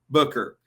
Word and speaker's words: Booker: blow the pronunciation here buker Booker it's actually just it is it's just Kira Booker but here's the thing